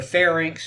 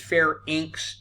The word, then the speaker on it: pharynx: of your throat the pharynx and the larynx and remember this pronunciation is fair inks and layer inks it rhymes with links not pharynx and larynx as some people would like to say why nas trachea